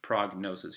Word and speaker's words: prognosis: but with these examples diagnosis prognosis you pronounce the G so a diagnosis is